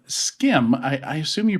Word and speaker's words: SCIM: today we are talking about a standard called skim i i assume you pronounce it like skims that's right can we say skim all day long okay s-c-i-m is how it's spelled uh s-k-i-m might be